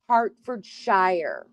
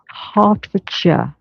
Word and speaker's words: Hertfordshire: See, I would say Hartford Shshire. Well, you told you, but it's Hartfordshire.